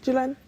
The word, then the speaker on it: Jhulan: and former West Indies player, as well as Jhulan, is it? How do I pronounce? Yeah, Jhulan.